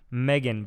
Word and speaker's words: Megan: Megan, but it's spelled like Ronald Reagan. Oh, I get it. I know a couple Megans spelled that way. Really? Yep, I call them Meagans.